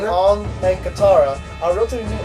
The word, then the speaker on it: Aang: Remember, it's pronounced in Asian language, so it's Ong. Ong and Katara are relatively new actors.